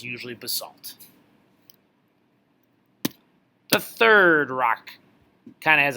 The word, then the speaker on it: basalt: granite new bullet basalt basalt or basalt that one's kind of pronounced both ways I'm gonna pronounce it basalt basalt is extrusive okay